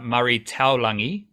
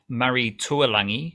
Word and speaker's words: Murray Taulangi: queensland have called up murray taulangi not murray tualangi his name is actually mari murray taulangi like it's spelt that way so don't no yeah just read the name properly you know um but he